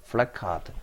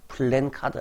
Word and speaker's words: 플래카드: 이상하게 썼습니다 flat 카드 플래카드 이렇게 써 주셔야 지 많습니다 그래서 우리가 읽을 때도 술래 카드라고 읽어야지 맞지 플랜카드 아니라 아예 자 입 암호를